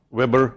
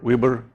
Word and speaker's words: weber: Unfortunately, it has many different pronunciations. Weber, Weber, Weber. Choose yours.